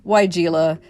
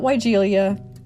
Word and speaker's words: weigela: Proven Winners Shrubs, and the consensus was weigela, not weigelia, and of course the original German pronunciation would be weigelia.